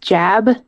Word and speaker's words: Jab: I do believe his name is pronounced Jab. Jab. Like jab. Right. Jab, right. Right. Like judo jab.